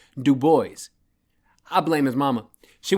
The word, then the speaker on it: Du Bois: I bet he didn't tell you that he pronounced W.E.B. Du Bois' name as Du Bois for years until I told him that it's pronounced Du Bois.